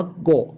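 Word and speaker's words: 五: กู โง่ เพราะ ฉะนั้น ตัว นี้ ก็ อ่าน ว่า โกะ เวลา มี ส่วน ประกอบ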